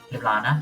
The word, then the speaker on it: Ljubljana: How do you pronounce the capital city of Slovenia? Ljubljana? Ljubljana.